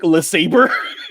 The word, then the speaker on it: LeSabre: A Buick LeSabre? LeSabre, yeah. A Buick LeSabre. Perfect. A Buick LeSabre. Is that how you pronounce it?